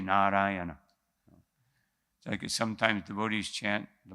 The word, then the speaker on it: Narayana: said the name Narayan sometimes we say Narayan but because it says four syllables here we must say narayana okay sometimes devotees chant